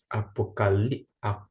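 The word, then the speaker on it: ἀποκάλυψις: Apocalipsis. Deixa eu grifar somente o termo apocalipsis. Apocalipsis. Por que apocalipsis? Porque aqui está a sílaba tônica, é indicada por esta acentuação aqui, ó.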